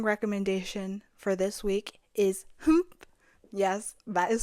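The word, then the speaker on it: HUMPH!: Second song recommendation for this week is Humph. Yes, that is spelled HYMPH exclamation point by WJSN's subunit Chokum.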